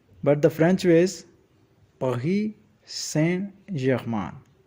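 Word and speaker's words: Paris Saint-Germain: You might hear the English way like Paris Saint Germain, but the French way is Paris Saint Germain. Say it with me. Paris Saint Germain. The S in Paris is silent. T in Saint is also silent.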